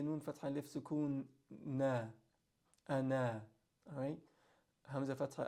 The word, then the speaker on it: أَنَا: So here, Hamza Fatha A, Nun Fatha Alif Sukun Na, Ana. That circle on top is telling you if you stop on this word, you pronounce the alif.